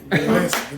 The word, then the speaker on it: Gillespie: Gillespie.